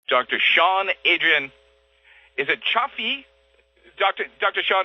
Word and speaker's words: Choflá: Is it Choflá? Dr. Sean, how do you say your last name, just for the record? It was close. It was Choflá.